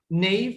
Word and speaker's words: naive: Naive, okay. Oh, this one is naive, naive, naive. That's the pronunciation.